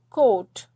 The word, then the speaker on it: coat: This is coat, oat, okay, oat. So A is silent and O is saying its name.